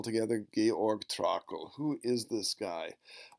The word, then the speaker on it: Georg: is pronounce this mess Georg is the first name give me a hard G sound GUP Georg there's no e on the end this is not George this is Georg last